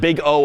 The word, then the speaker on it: big O: then some parenthesis and you pronounce it big O of such and such.